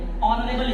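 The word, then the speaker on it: honourable: अगला बाबू लिखा है ये ऑनरेबल, इसको पढ़ेंगे। इसमें एच आपका क्या है, साइलेंट है, जिसका मतलब जैसे कि ऑनरेबल मतलब होता सम्माननीय।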